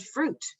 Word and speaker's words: fruit: And because you then put back your Orton Gillingham hat, we know that UI makes the U sound, you pronounce it fruit.